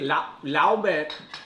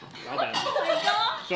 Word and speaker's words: 老板: 老板。老板。So here, L-A-O, 老 ban, B-A-N.